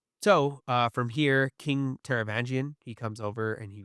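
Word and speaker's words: Taravangian: Um, so, uh, from here, King Teravangian, he comes over and he was Oh, good job.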